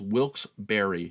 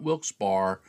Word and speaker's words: Wilkes-Barre: The pronunciation is Wilkes-Barre, not Wilkes-Barre, Wilkes-Barre.